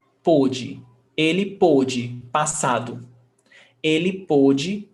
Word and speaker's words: pôde: E pôde. So pay attention to the pronunciation. Pó, ó, pode, pôde, pô, o, pôde.